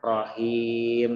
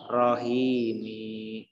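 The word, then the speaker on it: الرحيم: ya contoh Bismillahirrohmanirrohim dibacanya Rohim Ya bukan Rohimin naminya ini dimatikannya gak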